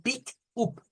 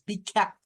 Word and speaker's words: pick up: up, un pick up, no, es pick up, porque esa U en la palabra pick up se pronuncia como un out, que es una mezcla de una A con una U.